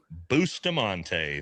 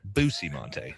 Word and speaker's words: Bustamante: And yes, with us today, the everyday spy, Andrew Bustamante. Thanks for joining us. It's pronounced Bustamante, actually.